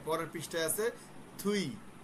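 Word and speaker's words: 뒤: আচ্ছা, এই যে আমরা বলছিলাম আপ মানে সামনে, এই যে পরের পৃষ্ঠায় আছে থুই, আমরা যদি দেখতেছি দুই, উচ্চারণ হচ্ছে থুই, থয়ের মতো উচ্চারণ।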